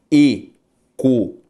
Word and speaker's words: econômico: Se eu separo o econômico, econômico, sílaba tônica, antepenúltima.